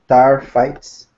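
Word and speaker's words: taaffeite: The taphite gemstone, pronounced tarfites, is purple to red and was first discovered in 1945.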